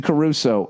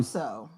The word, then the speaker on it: Crusoe: Robinson Caruso. Um, Cruso. Huh? Cruso. The way it's spelled. C R U S O E. Robinson Cruso. Everyone says Robinson Caruso, but it's looks like Cruso.